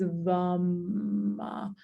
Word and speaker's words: vam: The seed sound, again, so it's spelled with an A, but it sounds like a U. The seed sound is VAM.